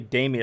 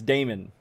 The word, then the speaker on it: Damon: No, I keep saying it wrong. I say Damien. Oh yeah, were you here, Kala? I'm gonna keep saying Damien. I think Damien is now the only way he would recognize it's me talking about him. So it's Damon.